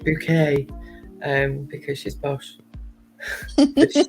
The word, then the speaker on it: Bucket: but it's actually pronounced it's actually spelt bucket but she pronounces it bouquet um because she's bosh